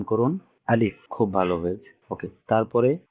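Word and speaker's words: ألف: আলিফের উচ্চারণটা হবে, অর্থাৎ মুখ ও গলার খালি জায়গায় বাতাস দু ঠোঁট দিয়ে বের হবে এবং উপরে যে দুটা দাঁত আছে উপরের দাঁতগুলো নিচের ঠোঁটের পেটের সাথে লাগবে, যেমন আলিফ।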